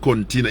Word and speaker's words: Cortina: It's not Cortina.